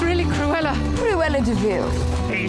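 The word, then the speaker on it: De Vil: and Jasper she's really Cruella pretty well in DeVille he spelled devil but it's pronounced DeVille Harris for clarifying we appreciate that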